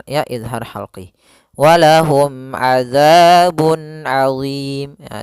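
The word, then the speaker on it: عَظِيمٌ: Ya, di sini ketemu ain. Azim. Maka di sini pada lafal azim, di sini ada huruf mad dan sebelumnya maaf di akhir kalimat ada mim yang disukunkan disebabkan sukun arid. Maka kita namakan dengan mad arid lisukun. Panjangnya yaitu boleh 2 harokat, boleh 4 harokat dan boleh 6 harokat.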